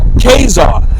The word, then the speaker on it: Caesar: heard of Julius Caesar you know that's actually pronounced kesar is c a e s a r k yeah same it's the same thing you